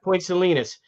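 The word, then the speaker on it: Point Salines: do you how do you say selus yeah Point selenis um but the Rangers that wasn't the Rangers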